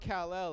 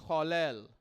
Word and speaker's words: Kal-El: It's not Kal-El, it's Kal-El.